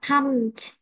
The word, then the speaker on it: pumped: Ừ, chỗ đây đọc là pumped. Pumped. Được chưa? Âm đuôi của nó là ha, pumped.